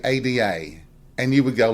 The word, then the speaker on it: Ada: The er part seems to be a cultural norm of our language in the South.